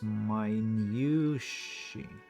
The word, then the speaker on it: minutiae: the spelling is not traditional, and so the pronunciation must be not too. So it's minutiae.